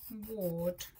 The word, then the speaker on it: ward: and write it, so ward. Let's check if we're right. So WARD. Remember, the or sound is spelt with AR this week.